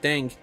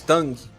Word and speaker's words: Tang: right now that and tang tang is is here in Brazil pretty popular here our pronunciation is different so it's Tong not Tang ah yeah yeah yeah it's